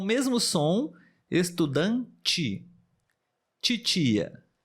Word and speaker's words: estudante: exemplo também seria estudante estudante de e no final porém nós temos esse som muito comum estudante e é como se tivesse mais uma letrinha ali o som do J do CH mas na verdade é somente